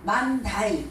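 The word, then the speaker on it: Monday: 그거를 오자 발음 안 하고 A자로 발음해요. 모음을. 그래서 만다이 이렇게 발음해요.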